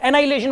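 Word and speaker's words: annihilation: और pair एनाइलेशन, इसको आप ऐसे बोल सकते हो एनिहाइलेशन, ताकि ना स्पेलिंग याद रहे इसकी। वैसे H जो है वो साइलेंट रहता है इसके अंदर, H इसमें साइलेंट रहता है, एनाइलेशन बोलते हैं इसको।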